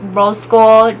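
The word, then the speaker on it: Rxse Gold: It is pronounced Rose Gold, just like the X is an O.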